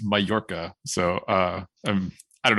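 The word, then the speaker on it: Mallorca: the Mediterranean the island I said it was Mala apparently it's pronounced mayorca so uh um I don't know how to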